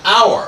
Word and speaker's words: hour: an hour or an hour glass so the H is silent.